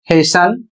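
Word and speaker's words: hasten: अगला शब्द है एच ए एस टी ई एन इसे पढ़ा जाएगा हेशन और इसका अर्थ होता है जल्दी करना।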